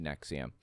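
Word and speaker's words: NXIVM: the by n x i v m is pronounced Nexium so anyways um the guy or the there was somebody from Smallville that was in Nexium I don't remember who it was or what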